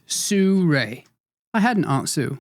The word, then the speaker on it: Sirui: Well, the University of Google suggests it's Sue Ray.